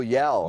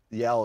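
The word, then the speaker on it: Yelle: Oh, Yell.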